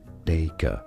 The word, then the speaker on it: daiquiri: Maybe it exists in certain regions or languages, but generally in British English it is said as daiquiri, daiquiri, stress on the first syllable, or in American English, daiquiri, daiquiri, or daiquiri.